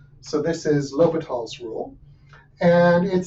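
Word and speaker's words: L'Hôpital: and what happened is in French the S wasn't pronounced so they dropped it and they just put a hat instead so this is pronounced lital so this is lal's Rule and it says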